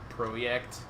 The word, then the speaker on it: Projekt: Is the Polish word for project seriously projekt? It's Projekt. Yeah. And that's how you pronounce a J in Polish.